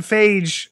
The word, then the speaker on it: Feige: Feige says, that's Feige.